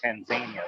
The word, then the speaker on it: Tanzania: about too, and that's Tanzania. Or as I recently learned, the locals say Tanzania, which I think sounds a lot more fun. So in Tanzania, we deliver